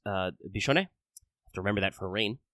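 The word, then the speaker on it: Biscione: and indeed yes it's Italian so it is pronounced uh bishon to remember that for rain there is actually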